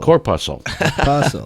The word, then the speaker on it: corpuscle: you look at uh the center of the of the word uh corpuscle p-u-s-s well think about b-u-s-s how would you pronounce that okay now i had a p corpus pass corpuscle okay so that's it